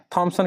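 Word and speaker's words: Thomson: थॉमसन की जगह कई बार टॉमसन भी आपको मिलेगा, तो घबराइएगा नहीं, उसी का नाम है ना थॉमसन या टॉमसन, कई बार उच्चारण में लोग बोल देते हैं।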